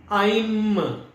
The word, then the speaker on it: ऐं: तो अब उच्चारण जो है वो क्या है? अ, ई, म, आइम।